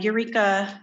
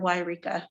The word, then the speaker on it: Yreka: I printed off an article, Eureka or Yreka. I've heard it pronounced both ways, the city in Northern California.